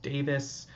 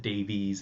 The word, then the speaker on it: Davies: as I understand it the name is of Welsh origin and it's meant to be pronounced Davis uh but I think